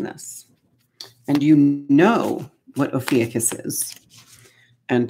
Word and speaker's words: Ophiuchus: and you know what Ophiuchus is, and that's just how I have found to pronounce it. I've heard Ophiuchus, I've heard Ophiuchus. I like Ophiuchus. Go with what works for you.